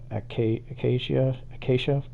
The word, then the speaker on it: acacia: I keep saying acacia wood. It's acacia. Not good at pronunciation.